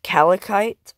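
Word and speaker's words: calcite: On like kind of in the middle, it's Calicite. I'm pretty sure that's how you pronounce it.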